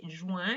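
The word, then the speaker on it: juin: a little bit funny juan it's nasal join and then jui and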